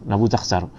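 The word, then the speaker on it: Nebuchadnezzar: Kemudian serangan kerajaan Nabukadnezar, macam mana sebut, Nabutakhsar. Jadi ini kalau ejaan bahasa Arab, nun ba ta Nabuktasar, ta sad ra Nabuktasar.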